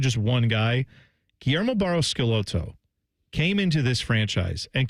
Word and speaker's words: Guillermo Barros Schelotto: Guillermo Barros Schelotto is actually how they say it.